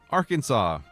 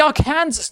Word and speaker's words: Arkansas: Where is the W? Where do you get the W from? There's an S at the end. It should be Arkansas, not Arkansas.